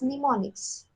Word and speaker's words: mnemonics: these are known as mnemonics it starts with p however p is silent these mnemonics you know